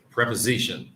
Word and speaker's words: preposition: preposition. Preposition. Yeah, the stress is on zish.